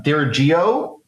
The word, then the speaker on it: Dirigo: Uh Dirigo Advisory founder John Brody. John, is that the correct pronunciation there? It is Dirigo, Oh, Dirigo.